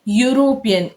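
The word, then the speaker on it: European: ही इज यूरोपियन. ई से लिखा गया है लेकिन साउंड क्या है? य साउंड आ रहा है.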